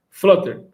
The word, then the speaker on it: Flutter: Flutter, a pronúncia correta.